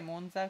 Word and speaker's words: Monza: Ok, ho controllato la trascrizione fonetica e Monza con la Z sorda, cioè come palazzo.